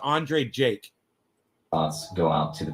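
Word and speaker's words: Andrei Jikh: right that's how he spells him but it's pronounced andre jake thoughts go out to the people of ukraine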